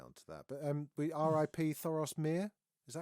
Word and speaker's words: Thoros of Myr: Thoros Myr. Is that how you say his name? Thoros of Myr.